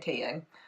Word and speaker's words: Taeyang: sounds insane tape young I'm saying Taeyang just to clarify in case anyone's like you're saying his name wrong it's hard they're like